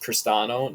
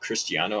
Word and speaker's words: Cristiano: that isn't crisano Ronaldo I believe it is pronounced cristano not Cristiano I know that's the